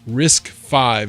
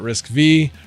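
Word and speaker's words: RISC-V: Uh, Retro Mike, it's pronounced Risk 5, not Risk V. Roman numeral.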